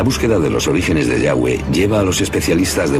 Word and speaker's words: Yahweh: siquiera se puede pronunciar no sabemos exactamente lo que significa y tampoco como se pronunciaba pero parece ser el nombre personal del dios de Israel de modo que de alguna manera su título es Dios y su nombre era estas cuatro palabras en inglés y español son yhwh pensamos que probablemente se pronunciaba yagüe o algo así pero Yahweh solo